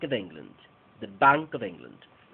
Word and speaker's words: England: sustantivo fuerte en england otra vez tenemos una palabra de dos sílabas toda la fuerza de voz en eng eng cuando ya vamos a decir Land no hay aire entonces decimos sh Land england england the Bank of england